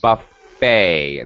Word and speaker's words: buffet: It's a buffet. The final T is silent.